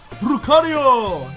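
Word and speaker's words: ルカリオ: Although I think Lucario is actually pronounced Rukaria. Rukario! In Japan.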